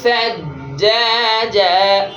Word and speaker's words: ثجاجا: সিনের মতো উচ্চারণ হবে না, এটা সা, জিহ্বার আগা দাঁতের আগা, এটা সিন যেন না হয়।